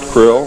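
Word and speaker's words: Krll: His name and title was His Omnipotent Highness Krill, pronounced Krill, spelled K-R-L-L-L or C-R-L-L-L.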